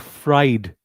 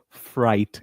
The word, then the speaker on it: fright: Not fried shake. It is fright.